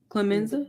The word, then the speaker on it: Clemenza: Clemenza?